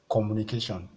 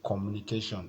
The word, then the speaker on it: communication: the penultimate syllable so the first syllable here is communication okay communication so if you check it very well the P before the last one the last cable is Shan before that one is K so you have to